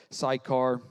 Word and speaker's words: Sychar: So he came to a town of Samaria called Sychar, that's one way to pronounce it, near the property that Jacob had given his son Joseph.